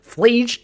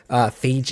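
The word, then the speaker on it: Phlage: I always mispronounce this card. I always forget the L. Flage, Titan of Fire's Fury.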